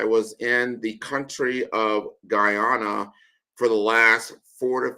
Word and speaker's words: Guyana: So it's not Ghana, it's Guyana.